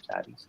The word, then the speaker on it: Zari: How do you pronounce her name? Zari.